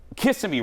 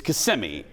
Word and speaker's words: Kissimmee: I said Kissimmee wrong. It's Kissimmee. It's Kissimmee. I said it wrong. I did not know that. You didn't know that? No, I always thought it was Kissimmee.